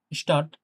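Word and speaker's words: Stadt: পরে সহজ হয়ে যাবে শুরুতে এটা এ না আ স্টার্ট স্টার্ট স্টার্ট নাই তালব্য সর্ব মত উচ্চারণ হবে সবা দন্তাসত না স্টার্ট একটু শক্ত করে স্টার্ট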